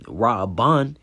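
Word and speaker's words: ראובן: Reading, "See is a son," and you see the Hebrew pronunciation Ra'aban, all right, which means, of course, "see is a son."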